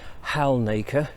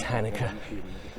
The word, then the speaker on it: Halnaker: past I've always made the classic error of pronouncing it Halnaker because that's how it's spelled. But Guilty. it's Halnaker, apparently.